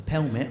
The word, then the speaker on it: pelmet: your blackout is so we have I built a pelmet I know it rhymes with helmet but it's a Val